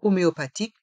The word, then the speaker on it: homéopathique: T est mué homéopathique les deux h dans le mot homéopathique sont muet homéopathique un traitement homéopathique un